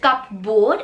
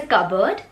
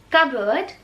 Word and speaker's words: cupboard: इट्स नॉट cupboard, it's a cupboard, cupboard.